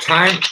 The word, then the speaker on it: thyme: like the clock the time is also a spice have you ever heard about that Veronica it's called th ym e time it's look good with potatoes